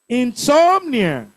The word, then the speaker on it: insomnia: Insomnia. Second syllable.